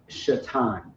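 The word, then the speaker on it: שטן: her classes teach and you may hear the word shatan shatan is Satan it's happening that's how you say it in Hebrew all right on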